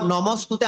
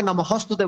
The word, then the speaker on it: নমস্তুতে: যেমন নমস্তুতে আমরা অনেকে নমঃস্তুতে বলি, এই উচ্চারণটি আসলে ভুল। নমঃস্তুতে কখনো নয়, তবে নমস্তুতে।